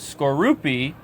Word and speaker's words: Skorupi: I also learned how to say this Pokemon's name is Skorupi and Drapion.